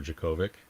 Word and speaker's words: Djokovic: Okay, so Juice is going for Djokovic.